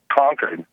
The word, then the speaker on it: Concord: Concord California or Concord California how do you pronounce it Ryan conquered conquered yeah nice all right what's up hey